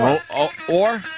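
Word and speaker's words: Ohr: Or? Yeah. Silent H? No, or. Right, Travis? O-H? Yeah, I thought so.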